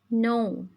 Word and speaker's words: gnaw: What you have to pronounce it? No.